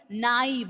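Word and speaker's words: naïve: Air, naive, R sound and E sound, that's clearly audibly there.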